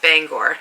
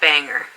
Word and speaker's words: Bangor: things are pronounced but bangor is pronounced bangor not banger so if you are